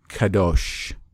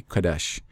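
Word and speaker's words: קדש: it into something like Kadosh they would say it was kadosh where it would be Kadesh now I do apply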